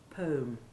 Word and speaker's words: poem: short e1 sound and don't be tempted to imitate affected people who pronounce poem without saying the e at all just the long one as though it rhymed with home poem it's very irritating now